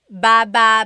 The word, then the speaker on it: baba: So depending on how you're saying it, it could be baba, chin, baba. Emphasis is on the first syllable. Baba. Then there's baba baba. Emphasis is on the second syllable syllable. That means to go down.